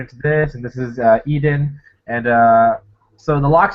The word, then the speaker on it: Eden: with an I hold up one second Eden pronounced Eden yeah Eden um so yeah this is this